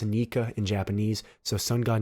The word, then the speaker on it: Nika: the translation for joy boy it says it's pronounced nica in japanese so sun god nika and joy boy are the same thing and